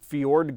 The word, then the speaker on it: Fjord: pronounce it it is Fjord green like the fjords in Norway it's really easy for me to say it's Ford green which it is